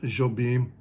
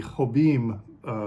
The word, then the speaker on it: Jobim: correct my pronunciation because I think in Portuguese the J is pronounced like a soft J whereas in Spanish it's it would be hobim rather than uh anyway let me